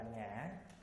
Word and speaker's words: ngã: nghĩa thì gọi là ngã giống như người quảng ta nói nị ngọ ngọ áy nỉ nỉ ái Ngọ đó chữ Ngọ là khi văn nói khi đi vào chữ thì đọc là ngã cặp chúng sanh tức